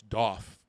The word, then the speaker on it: Daith: way or another um according to him the correct is doff as in uh uh you know as a goth like you know he went to the mall and picked up that doff clothing golf clothing I